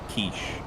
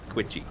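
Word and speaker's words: quiche: Kiche. Oh, thank God. Or if you want to piss off everyone at the dinner party, Quitchy. That sounds like it rhymes with squishy.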